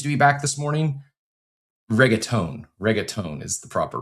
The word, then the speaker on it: reggaeton: Reggaeton is the proper pronunciation there.